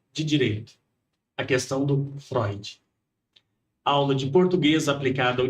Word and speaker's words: Freud: Ela com muita educação, ela falou: "Olha, embora se escreva freude, se pronuncia Freud."